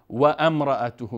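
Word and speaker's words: وامرأته: ذات لهب و و اینجا اکثر متوجه اشتباه میکنن و امراته میخوان نه و وم مستقیم حرف و به میم وصل میکنیم میچسبانیم و الف تلفظ نمیکنیم وامراته وامراته وام وامراته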